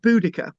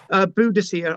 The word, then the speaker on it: Boudica: So Prasutagus was the husband of Boudica, Boudicca or Boudicca, or Búthig in Siarad Cymraeg.